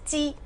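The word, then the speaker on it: 鸡: Porque pollo en chino es ji. Chi, la pronunciación es igual que acumular, significa que en el año...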